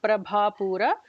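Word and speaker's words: Prabhāpūra: Bha is the second Bha, the Mahaprana. Nijaruna Prabhapura.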